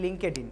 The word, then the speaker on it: LinkedIn: অনেকে এটাকে লিঙ্কডইনকে বলে লিঙ্কডইন। সো এটা উচ্চারণ হল লিঙ্কডইন।